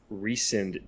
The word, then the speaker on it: Rhysand: They say Rhys-and in the audio drama. It's like super. Oh, the Jennifer accent, does the same. Yeah, the accent is on the and.